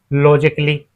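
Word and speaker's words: logically: Example के तौर पे लॉजिकली यहां हमारा ए साइलेंट होता है। इसे हम लॉजिकली नहीं बोलेंगे। इसे हम लॉजिकली बोलते हैं।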